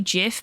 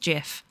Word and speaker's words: GIF: is supposed to be Jif because the G stands for generic I think or graphic no it's just it it must be generic because that's why they say it's uh it's pronounced Jiff um whereas if it